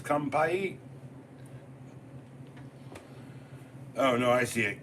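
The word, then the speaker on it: 乾杯: Kampai. What? Not kumpies. Kampai.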